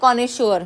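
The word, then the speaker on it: connoisseur: जो जिसमें एक्सपर्टीज होती है उसको बोलते हैं कॉनेश्योर, क्या बोलते हैं, कॉनेश्योर, लेकिन स्पेलिंग क्या है सही उसकी, इसमें जो स्पेलिंग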